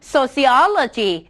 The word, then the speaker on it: sociology: ด้วย คำ ว่า Logic การ stress เสียง นั้น จะ เกิด ขึ้น ก่อน หน้า คำ ว่า logy เพราะ ฉะนั้น น้อง จะ ออก เสียง ว่า psychology Biology นะ คะ sociology cardiology cardiology แปล ว่า